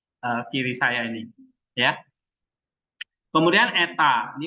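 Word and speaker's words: ήτα: Epsilon itu E pendek, ini E, ya. Agak titik, makanya dia di sini ada titik dua karena E-nya E panjang, E.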